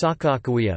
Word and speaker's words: Sacagawea: The compound is written as Kagagawea bird woman in modern Hadatsa orthography, and pronounced Sakakawea per meter, is pronounced W between vowels in Hadatsa.